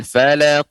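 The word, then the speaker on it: الْفَلَقِ: zubirabbil Sadako dan dia huruf qaf ini ya ya yang tebal ya huruf isti'la bakal pengucapan qalqalahnya juga lebih tebal full a'udzu birabbil Falaq uh itu lagi trek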